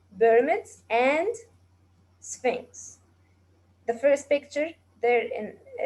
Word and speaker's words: Sphinx: And the below one is called Sphinx. Sphinx. Sphinx. Sphinx. As you noticed, the PH here is pronounced fa.